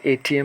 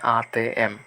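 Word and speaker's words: ATM: যে অক্ষরগুলো বা রোমান অক্ষরগুলো এগুলোকে ওরা ভিন্নভাবে উচ্চারণ করে। হয়তো এটিএম না বলে ইন্দোনেশিয়ানরে বলে আতে এম হ্যা এখানেও ইন্দোনেশিয়ানরা মূলত আতে এম বলবে আপনি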